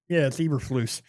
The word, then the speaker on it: Eberflus: It's Eberflus. Yeah, that's Chicago's. That's Dallas's defensive coordinator. Yeah, exactly. He thought he was going to have something on him. Is it Brad Eberflus?